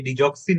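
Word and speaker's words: Digoxin: Anti malarial drug like quinine, hydroxychloroquine, এছাড়াও digitalis বা ডিগক্সিন, আর কি ডিজক্সিন সঠিক উচ্চারণ, ফিনোথায়াজিন, ইথামবিউটল, ইন্ডোমেথাসিন, ডেসফেরোক্সামিন, ট্যামোক্সিফেন, আইসোটেটিনোইন, সিলডেনাফিল, এগুলা কারণে pigmentary change in the macula হয়ে থাকে।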